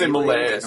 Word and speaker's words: malaise: Do you say that malaise? Yes, malaise, yeah. Malaise.